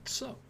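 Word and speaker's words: そ: You pronounce it as the word so.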